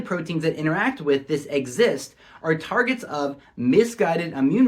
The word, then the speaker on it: Xist: as x i s pronounced as exist coal around the chromosome